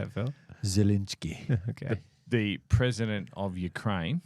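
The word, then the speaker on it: Zelensky: between zelinski how do you say it Phil zalinski okay the president of Ukraine that's it and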